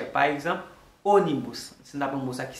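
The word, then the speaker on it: ônibus: Puis il y a un mot qui a un accent circonflexe sur lui, qui c'est O, les ça la prononcer comme un O léger. Par exemple, onibus, c'est un mot ça qui signifie bus, ok?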